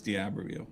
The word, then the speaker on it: D'Iberville: D'Iberville, or is it D'Iberville, or is it No, it's D'Iberville.